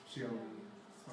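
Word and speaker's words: 小: And the fly was so small that the dragon had to look at his Xiaomi. through his Xiaomi smartphone, that's right. So what's the pronunciation, Jared?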